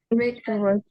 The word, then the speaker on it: written: W-nya nggak dibaca. Kalau bab tiganya Written. ya W-nya juga nggak usah dibaca ya. Jadinya written.